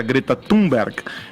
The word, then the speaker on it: Greta Thunberg: O porta-voz da presidência, Otávio do Rego Barros, disse ontem que Jair Bolsonaro não foi descortês ao chamar a ativista sueca Greta Thunberg, a pronúncia é essa mesmo?